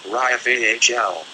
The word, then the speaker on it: Raphael: Say, before me, and then vibrate, Raphael, pronounced Raphael.